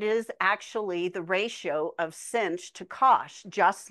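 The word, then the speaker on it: sinh: the hyperbolic sign is pronounced cinch of X and it's e to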